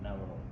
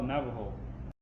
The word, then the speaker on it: Navajo: So us, Diné people, when we spell Navajo, it's supposed to be with H because H is H. But the J, as I mentioned earlier, that we don't use currently for pronunciation of the H sound.